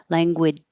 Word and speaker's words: language: that's okay language but you can't skip the J and say language you have to totally stop the air language language but no extra sound at the end like a language so stop making your